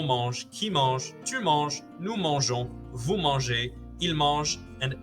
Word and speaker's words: mangeons: This means you only really need to learn one new pronunciation, and that's nous mangeons, which sounds like on at the end.